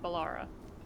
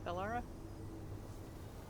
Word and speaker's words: Bellara: I was going to say I keep mispronouncing Balara or Yeah, Bellara.